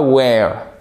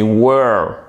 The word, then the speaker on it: were: C'est pas where, c'est were.